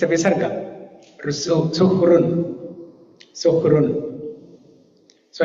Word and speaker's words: suhṛn: So if you count the number of syllables, Su-hrun, 3. But if there is no dot, you will say Su-hu-run, Rana, something like that. You will pronounce. But it's a visarga, Su-hrun, Rukara. Now in Sanskrit you have this, right? Su-hrun. This rakara is there. Below ha. Huh? Yeah, but it's not a complete syllable. It's a half syllable. Yeah, it's a half syllable. Visarga.